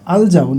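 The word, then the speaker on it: الجون: তো দেখেন এখানে ইংলিশ হাদিসে কিন্তু শব্দটা ঠিকভাবে উচ্চারণ হয়েছে আল জাউন, কিন্তু বাংলা হাদিসে এখানে জাউনের কন্যাকে, মানে মানে টোটালি ভিন্ন।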